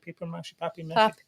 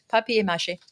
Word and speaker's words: papier-mâché: Is that how you say it? Paper-mâché? Papier-mâché. That's the one.